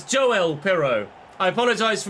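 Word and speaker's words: Joël: gone in and I was pronouncing it yoel it's not Swedish he's Dutch it's Joe well pero I apologize for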